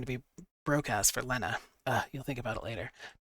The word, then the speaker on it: Lena: Work hard and give Lena the life that she deserves. Her name's actually Lena, but it looks like Lena, and it drives me nuts that it's spelled like Lena, but it's technically said Lena.